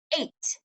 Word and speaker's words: eight: at it okay eight the reason why it's tricky is because the e and the I are saying a long a sound e is saying a the G H is technically silent 8 you don't hear the G or the H that's why this word